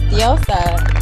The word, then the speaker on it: DiosaZah: Come on now, you gotta tap into your Mexican side. Yes, it's DiosaZah.